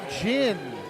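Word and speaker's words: Ginn: that time by Erica Jinn spelled g i NN pronounced to like the beverage chin antonic that was a a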